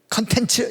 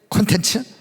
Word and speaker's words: 콘텐츠: 저는 발음이 옛날부터 컨셉 이렇게 발음이 된 컨텐츠 이렇게 입력이 됐는데 컨셉, 콘텐츠 이렇게 또 발음을 하시니까 통일하기 위해서 컨셉, 콘텐츠.